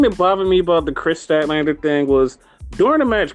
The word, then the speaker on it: Statlander: Is that how you pronounce it? Yes, it's Chris Statlander, the alien.